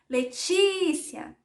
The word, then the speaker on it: Letícia: Se vocês fossem chamar o meu nome, Letícia, Letícia, viram? O ti, que é essa sílaba aqui, até tem um acento, é a sílaba tônica. Quando eu chamo, eu dou evidência à sílaba tônica.